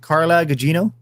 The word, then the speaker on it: Carla Gugino: not one kiss member one is was it carla Gugino that's how you pronounce her name and then okay so in